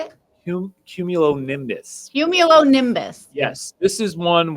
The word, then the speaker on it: cumulonimbus: And then the bonus one I gave you is the thunderstorm cloud, which is cumulonimbus, which is one that not everybody says. But how do you say it? Cumulonimbus.